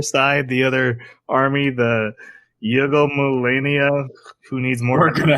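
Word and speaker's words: Yggdmillennia: We get to see the other side, the other army, the Yugo Millennia, who needs more. We're gonna have fun with that. The way they pronounce it is Yuga de Millennia.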